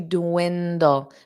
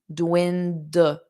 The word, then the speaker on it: dwindle: Question 7 is to dwindle. Notice that pronunciation. Dwindle. So you do pronounce both D's. Dwindle, dull. And you need that dark L at the end.